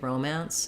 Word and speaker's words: romance: forms romance romantic Romancing stress on the man syllable in either case uh you have a little flexibility because the vowels don't change so um in both cases we have the true true o for the row and we have the